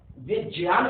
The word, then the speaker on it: विज्ञान: गा नहीं है, गलत उच्चारण है, विज्ञान कहना चाहिए, विज्ञान नहीं। यदि हम संस्कृत के दृष्टि देखें तो ज्ञा में जा और या होता है, गा कहीं नहीं है। उच्चारण में विज्ञान नहीं, विज्ञान।